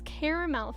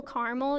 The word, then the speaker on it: caramel: However, as I'm from Wales, then it's caramel for me. Yeah, that's true. A lot of it is like regional differences too. I don't know if there's regional differences with the pronunciation within the US though. I don't know if that's a thing. 2-syllable caramel, yeah, that's what I like too.